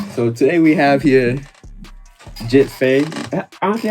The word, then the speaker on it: Gitt Fai: A lot of people say GittFai or GittFai. Nah, Gitt Fai. Gitt Fai. Like, it rhymes. Gitt Fai on the way. My tag rhymes. How did you come about your name?